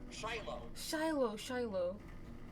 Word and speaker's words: Shiloh: Shiloh. Okay. So basically, I can put it in Discord. It's pronounced like that.